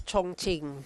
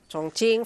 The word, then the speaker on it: Chongqing: The Q is pronounced as CH din.